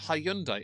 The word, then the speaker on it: Hyundai: It's pronounced Hyundai.